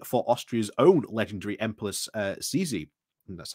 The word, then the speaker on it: Sisi: It is not so much monarchist nostalgia, and a long-standing for Austria's own legendary Empress Sisi, that's how you say it, that drives this astonishing interest.